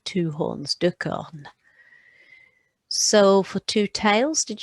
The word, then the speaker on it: cornes: You won't hear it, but you write it.